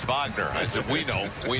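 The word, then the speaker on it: Wagner: called a flag and he goes and it's vogner as if we know we know we pronounce it correctly bronto on the reverse set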